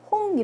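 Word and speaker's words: rond: 요거 어떻게 해 볼까요 끝에 자음 발음 안하고요 홍 라고 읽으시면 돼요 호 둥근 이란 뜻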